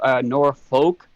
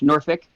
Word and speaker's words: Norfolk: I started trying to pronounce how I seen their names. You know, Norfolk. It's Norfolk.